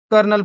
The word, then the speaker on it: colonel: समय के साथ प्रोनंसिएशन बदल गया और आज हम कोलने को कर्नल पढ़ते हैं। यानी स्पेलिंग इटालियन की और प्रोनंसिएशन फ्रेंच का और वर्ड इंग्लिश